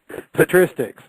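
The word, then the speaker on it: patristics: How do you even pronounce that Joe? Petristics. Petristics. Okay. Petristics.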